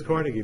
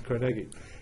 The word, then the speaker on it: Carnegie: I know everybody says Carnegie, but the correct pronunciation is Carnegie.